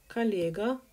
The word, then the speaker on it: коллега: So, коллега, stress is on е, прислал, sent, мне открытку с днём рождения.